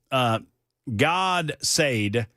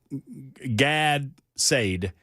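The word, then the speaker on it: Gad Saad: So, God Said, and it's Gadsaad. Gad Said. And I have difficulty pronouncing his name, but he is he's an influencer.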